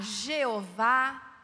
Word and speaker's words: Jeová: no meio dos cristãos pode se falar Jeová e aveh Javé todas essas palavras têm o mesmo significado significa eu sou e